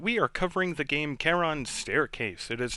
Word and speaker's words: Charon: It's also not Charon's Staircase, because this is out of the Greek mythology, which means it's pronounced with a hard K, so it is Charon's Staircase.